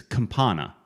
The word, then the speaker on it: Campana: It's campana.